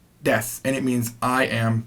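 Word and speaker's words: です: and by the way even though that is pronounced it looks like it's pronounced dead soo and just like this last one uh Thomas you must sue that is silent the final you sound is silent it's very common in a lot of Japanese words that they don't over pronounce that ooh Tomas Tomas there's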